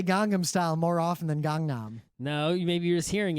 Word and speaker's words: Gangnam: and and you're like gangam it's like no there's another n in there it's Gangnam I think what it